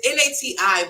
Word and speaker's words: Nati: like n o t no no no it's n a TI but it's pronounced na oh okay Nati I thought she